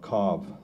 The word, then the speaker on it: Cobh: Actually, today it's called Cobh, C-O-B-H. It's the way it's spelled.